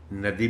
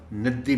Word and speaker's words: ندی: رکنا پڑ رہا ہے۔ یہ لفظ ندی، اس کے دو تلفظ ہیں اور دونوں صحیح ہیں، ندی بھی ٹھیک ہے اور ندی بھی ٹھیک ہے۔ اچانک